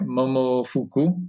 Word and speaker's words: Momofuku: So, so tell me about when you were at I would hope I pronounce this right, Momo Fuku.